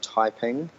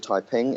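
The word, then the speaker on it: Taiping: worth having a stop in the town of typing which is spelled t a i p i n G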